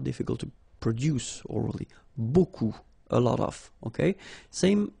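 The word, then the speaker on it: beaucoup: you want to use Buu Buu means a lot of it look it looks a bit strange B like that remember you don't pronounce the final P okay and then you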